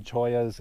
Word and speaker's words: chollas: it's actually spelled cholas but I guess the pronunciation is Toya's and there's different kinds there's the jumping joyas and the teddy bear Toya's and tree cheese